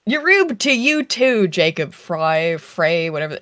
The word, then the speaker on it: Frey: Yub to you too, Jacob Fry. Frey, whatever. It's Jacob Frey, but he said Fry in his own previous video, which I thought was weird.